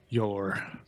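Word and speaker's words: Jór: and the neighbor's son, Yor, spelled with a J, Yor, who she fancies.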